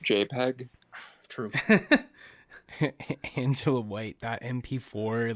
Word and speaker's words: JPEG: five two nine zero dot jpg nice it's pronounced jpeg true angela white that mp4 like on his